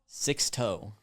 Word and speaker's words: Sixto: But also, if I was making it not sad, the pronunciation key says the letter 6 hyphen toe. Well, there you go. Sixto.